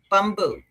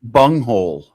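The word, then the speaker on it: Bunghole: Bumboo. Bumboo. Lickers. No. Bung. Bung hole. What the freak? Why are you giving me the wrong? B U N G H O L E. Bung hole.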